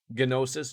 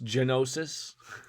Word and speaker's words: gnosis: still has any merit yes the g is silent yeah i i feel like saying gnosis isn't really going to be what works gnosis genosis i can't say i